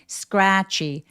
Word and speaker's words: scratchy: scratchy 스크래치 아니고요.스 알 때문에 입술을 내밀어서라고 발음해 보세요. scr.